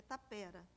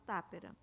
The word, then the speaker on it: tapera: Na edição de 1831, Morais diz que a pronúncia no Brasil é tapera com a tônica no. Nos sermões de Vieira, grande mestre da língua dos índios, vem acentuado Tápera, mas sempre ouvi dizerem no Brasil tapera, o engenho tapera.